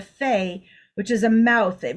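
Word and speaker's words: פ: And it is a pei, which in this case is pronounced as a fe, which is a mouth.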